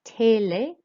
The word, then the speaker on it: télé: And télé, the E accent means we raise our voice for télé on the two E's.